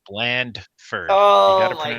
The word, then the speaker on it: Blandford: It's Blandford. Oh, you got to my pronounce gosh.